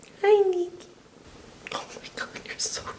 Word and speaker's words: Nikki: This is Pachi's cat, Nikki, spelled like Nick because Brazilians like to add the I sound to everything. Hi, Nikki.